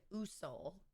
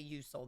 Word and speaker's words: Usul: So now we have the Usul, I believe is how it's pronounced. I will probably say Usul though, because that just makes more sense in my brain.